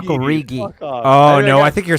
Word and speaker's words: Origi: I've heard it Origi. No, it's Origi. It's Divock Origi.